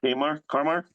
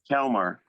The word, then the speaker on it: Kalmar: Wilma Kamar? Kalmar, yeah. Did I say it right? Kamar? Kalmar. Wilma Kalmar.